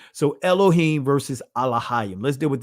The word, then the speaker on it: Elohim: So when you say elohim, right, the alith or in the ancient Hebrew alop is silent. So you're never pronouncing this first letter.